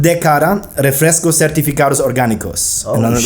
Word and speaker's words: D'Cada: Tell us It's called Dcada, Refrescos Certificados Orgánicos. Oh, and like organic juice blends. I hope that's Dcada.